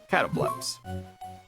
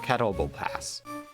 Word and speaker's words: Catoblepas: Catobleps. Or Catoblepass. I prefer Catobleps. Really, down to whoever wants to interpret the name or give a proper pronunciation.